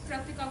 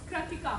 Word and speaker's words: Kratika: Pratika. Pratika. Pratika. Pratika, this is an open field. Sorry, am I pronouncing your name wrong? Yeah, it's Kratika.